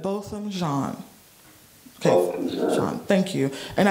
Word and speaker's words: Botham Jean: Botham Jean. Botham Jean.